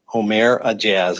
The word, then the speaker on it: Oumair Aejaz: Omare a a AZ Omare Azz I believe is the pronunciation 37-year-old Rochester Hills resident